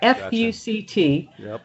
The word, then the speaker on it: FUCT: a clothing company called fuct not pronounced all together fct and uh it stood